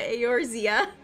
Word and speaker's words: Eorzea: Once you see like the words, it because it's not pronounced the way it's spelled. Yeah, Eorzea.